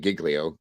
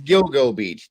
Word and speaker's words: Gilgo Beach: Serge said it right Gil Beach I don't know why I'm saying Giglio gilo like that seems like there's too many yeah yeah it's Gilgo Beach Jesus Christ sorry because